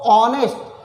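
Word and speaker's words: honest: तो ऑनेस्ट आपको बताया गया है कि जब एच का साउंड साइलेंट हो जाता है, यानी एच का उच्चारण जब वॉवेल की तरह होता है, तो उसके पहले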